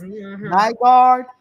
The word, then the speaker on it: Nygaard: Sister Arthur said, I believe his name is pronounced Nygaard.